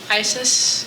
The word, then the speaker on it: Isis: And correct me if I say her name wrong. Isis?